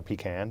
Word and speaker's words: pecan: a little too much pecan pie or pecan depending on how you pronounce it and you're thinking what